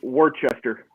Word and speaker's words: Worcester: uh uh town pronounced worcester massachusetts and it's spelled worcester yeah i'm like you're missing like syllables here how people pronounce things